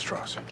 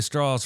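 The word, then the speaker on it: Strauss: it this just TR it's pronounced straws I've gone back and listened to opy say straws five times now and I swear he says straws play it again Mr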